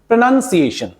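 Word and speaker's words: pronunciation: प्रोनंसिएशन बोलते हैं प्रोनंसिएशन इट इ नॉट प्रोनंसिएशन क्योंकि यहां पर यह वीक है यहां पर ओ नहीं बोला जाएगा मैंने आपको एक रूल में बताया था क्योंकि य वीक सिलेबल है और जिस सिलेबल में जो सिलेबल वीक होता है वहां ओ की बजाय ए बोला जाता है तो इसलिए यह क्योंकि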